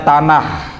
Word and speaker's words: Tanakh: Tulisannya Tanakh, bacanya Tanakh.